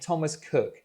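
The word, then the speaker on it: Thomas Coke: But this problem was solved well in advance thanks to a man named Thomas Cook. Yes, I know it's spelled Coke, but apparently it's pronounced Cook.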